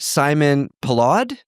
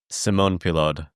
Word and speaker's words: Simon Pellaud: And we're going to compare that to data from, I don't think I'm going to pronounce his name right, Simon Pellaud? Simon Pellaud.